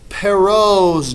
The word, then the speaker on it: Perrault's: At Perrault's door. That's how you say it. It's French.